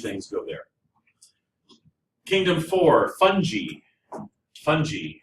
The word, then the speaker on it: fungi: And it is a soft G. I hear a lot of people say fungi. Um, fungi is somebody who's at your party. Makes it a better, right? It's a soft g fung.